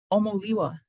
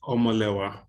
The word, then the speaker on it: Omolewa: Omoliwa. Did I say that right? Almost. Whoa, hi, Omo. Hi. Hi. Well, You got to pronounce your name for me now. it's pronounced Omolewa. Omalewa.